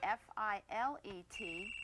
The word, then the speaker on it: filet: If you're speaking about meat cookery, the French word F-I-L-E-T, it's pronounced filet.